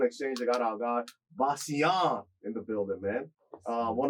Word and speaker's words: Vasjan: All right, so I always say the name as Vasjan, but that's not how you say it. It's Vasjan, but I just Vasjan?